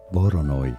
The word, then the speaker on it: Voronoi: Next is Voronoi or Voronoy. I'm actually not sure how to pronounce that. Voronoy. That's how you do it.